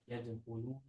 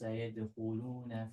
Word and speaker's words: يدخلون: Your kha, make it stronger. It's very soft. It sounds almost like a ghain. يدخلون Yadkhu. I want to hear the kha. رأيت الناس يدخلون في دين So if